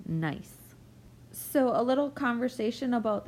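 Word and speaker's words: gneiss: rock that is called nice and the G is silent so we say this word is nice so a little conversation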